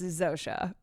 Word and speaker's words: Zosia: i know it's Zosa sometimes my sometimes I pronounce something the way that it's written but I know it's Zosha 78 musical working patty was invited by David